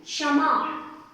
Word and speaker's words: क्षमा: क्षमा नहीं होता है, बहुत सारी जगह बच्चे उच्चारण करते हैं छ या श, कुछ भी बोलते हैं, पर इसमें क और श का प्रयोग होता है, इसलिए क्षमा, क्षमा, ठीक है ना।